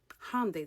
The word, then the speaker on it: Hyundai: Hyundai, that's how you pronounce it, by the way.